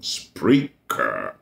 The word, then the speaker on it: Spreaker: Spreaker is spelled as it is pronounced, S-P-R-E-A-K-E-R.